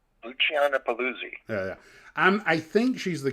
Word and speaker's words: Luciana Paluzzi: Luciana Paluzzi.